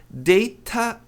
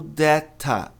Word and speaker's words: data: A pronúncia correta são duas, na verdade, data ou data, mas veja, eu tenho t ladeado por vogais e a tônica tá no da. Então o T está numa sílaba átona que acontece virar deira. Virar deira ou dera, mas não dara.